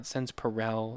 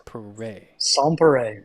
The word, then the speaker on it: Sans Pareil: going to say this it's Sans pay right it's not s perel it's pay sere sere okay I'm horrible